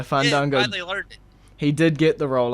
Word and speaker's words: Fandango: he lost the fandango it's fun you gotta say it right man but yeah fun don't go he did get the